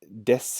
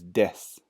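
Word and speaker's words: です: pronunciation you'll see in the hiragana here it's deaths it but we pronounce this one is death death is used in the same way that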